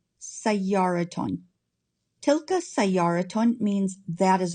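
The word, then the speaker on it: سيارةٌ: Because it ends in ta marbuta, we have a ta sound at the end when we add nunation. So it's pronounced sayyaraton, sayyaraton.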